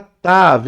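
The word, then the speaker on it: ת: Sim, e aí a final letra aqui, que é a final, nós temos aqui a letra Tav, ó. Ela é o T.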